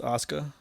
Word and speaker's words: Asuka: Um, Next match, Asuka or Asuka, depending on the pronunciation. Took If you're from Japan and want to say it right, it's Asuka.